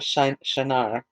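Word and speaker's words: Shinar: eric akad and kalne in the land of shanar and that's s-h-i-n-a-r from that land he went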